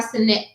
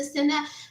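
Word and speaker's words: Cenat: Kai Sinet. I think I was saying it wrong. Every time I say it, my kids do. It's the net, Mom. It's the Sinet.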